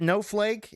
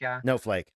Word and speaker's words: Noehflake: gentlemen still texting no how do you say it no flake is that how you say sake no flake okay like snowflake but no flake okay still texting no flake on January 25th at 11:16 p.m.